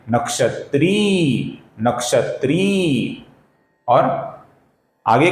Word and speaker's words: नक्षत्री: इसका सही उच्चारण है नक्षत्री, नक्षत्री।